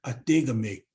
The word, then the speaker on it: adigami: same the same word adigami with a hard G instead of a softer uh G or a soft k uh Jamie I can